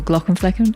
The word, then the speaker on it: Glauckomflecken: can't get enough of Dr Glen flecken or Glock and Fen as he pronounces it then I should let